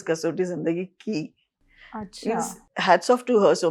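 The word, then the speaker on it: Kasautii Zindagii Kay: you remember casot Zindagi Papa made it instead of K I he made it K A Y. So the casot zindi K but it is pronounced as casot zindi key hats off to her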